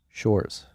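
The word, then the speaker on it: Sjors: as I said Source Shores you're saying no he he like I think it's sores but he he says Shores for Americans to pronounce it's s-j-o-r-s sure whatever okay great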